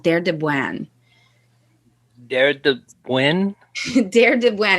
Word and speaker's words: Deir Dibwan: Deir Dibwan. It's spelled DEIRDIBWAN.